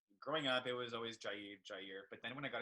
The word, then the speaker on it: Jair: It has a little accent on the I. I dig it, man. I prefer it too, personally. So I prefer Jair.